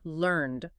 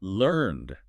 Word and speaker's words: learned: It's pronounced learned. One single smooth syllable. Learned. Yes, it is absolutely not pronounced learned.